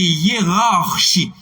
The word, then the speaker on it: hiérarchie: C'est hiérarchie. Bon, R, il y a une tendance pour oublier dans ça. C'est hiérarchie. On est là.